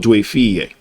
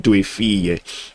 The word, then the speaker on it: Due Figlie: It's called Due Figlie. The G is silent, but you enunciate Due Figlie.